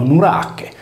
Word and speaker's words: Norace: Egli non rimase senza discendenza, poiché sua figlia Eruteia ebbe da Hermes, l'Erminzone sardo, un figlio di nome Norace, pronunciato Nurache.